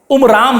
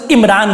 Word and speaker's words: عمران: میں رکھا گیا تھا۔ ان کے والد کا نام ان کتابوں میں عمرام بتایا گیا ہے۔ قرآن اسی کا تلفظ عمران کرتا ہے۔ وہ حضرت یعقوب علیہ